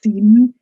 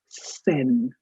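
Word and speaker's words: Seine: So, and please don't pronounce it as seen. It's Sen.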